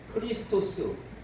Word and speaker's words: 크리스토스: 그럴 때 이를 반드시 넣어야 하고, 그리고 그 그리스도도 크리스토스 이렇게 발음해야 돼요.